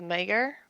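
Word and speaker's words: Maegyr: been watching the interactions between Robb Stark and Talisa Mager. That's how you pronounce her last name.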